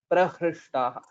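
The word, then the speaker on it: प्रहृष्टाः: And here amantrayamshcharu, amantrayamshcharu, and prahrishta, this is hrikara, prahrishtaha.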